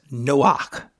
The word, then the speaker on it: Noach: So, but we would pronounce it something similar to Noach.